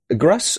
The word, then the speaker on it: Gruss: I do, in fact, have a guest this week, and it is Gruss. Gruss? Am I pronouncing it right?